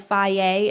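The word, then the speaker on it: Fage: And you can get the little containers of fier. It's spelled I think f a ge.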